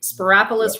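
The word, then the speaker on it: Spyropoulos: you know no but you said it right sparis rhymes with Metropolis yeah I practice a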